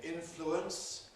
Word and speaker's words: influence: You can say influence, three syllables, influence, or you can compress it to two syllables.